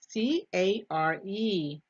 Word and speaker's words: care: C-A-R-E, C-A-R-E. And remember, letter E is silent. Care has a long vowel sound.